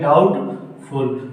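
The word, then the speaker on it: doubt: बी नहीं बोला जाएगा, यदि टी के पहले बी आए तो बी का उच्चारण नहीं होगा।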